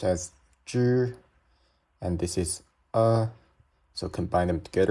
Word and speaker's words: zhi: So now that we know this one is pronounced as zhi, and this is so combine them together.